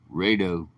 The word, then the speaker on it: Rado: He tried to, he spelled it out one day. Rado. Almost like radio. Rado. I call him Ray Do.